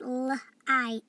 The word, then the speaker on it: light: Under flight is just like flight, but it doesn't have an F, so this word is, and remember, GH is silent, it's light, light.